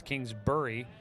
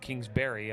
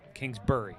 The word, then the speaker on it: Kingsbury: was going through pronunciations tells me it's Kingsbury not Kingsbury I'm not I'm not a fruit the 2-1 pitch and